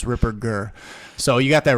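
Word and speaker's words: Ripperger: rer rer you got a lot of people do a soft G they say Ripper Jer but it's it's a hard G it's Ripper G so you got that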